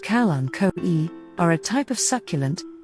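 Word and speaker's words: Kalanchoe: calanco blossfeldiana hertz gardens calancos pronounced calanco e are a type of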